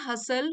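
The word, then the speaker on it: hustle: The constant हसल बसल, यहाँ T silent है, ये वाला टी और ये वाला टी।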